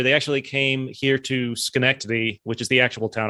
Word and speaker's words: Schenectady: They actually came here to Schenectady, which is the actual town I live in, which is just Albany adjacent. Hold on. How do you say that? How do you say that? Schenectady.